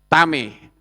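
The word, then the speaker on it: טמא: Sementara yang bawah tet mem alef membacanya tame.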